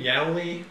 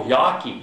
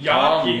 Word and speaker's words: Yawkey: How do you pronounce his name? Yali? Oh, Yawkey. Yawkey.